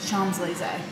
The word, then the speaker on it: Champs-Élysées: How do you pronounce that? Champs-Élysées. Oh, Champs, yeah. What did we say? We said Champs Elysees.